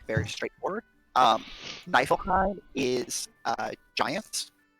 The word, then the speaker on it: Niflheim: In So, German, if it's maybe- IE or EI, the second one is the one pronounced, which is why it's Heim.